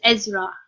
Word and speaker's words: Isra: Is then Ra. So it is Isra.